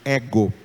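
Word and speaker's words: ἐγώ: O acento está no ômega, mas ele vale para o épsilon. Escrito sobre o ômega, mas na pronúncia ele vai surgir sobre o épsilon, fazendo do épsilon a sílaba tônica da palavra ego, tá?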